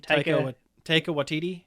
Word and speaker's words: Taika Waititi: How do you pronounce his name? Taika Waititi.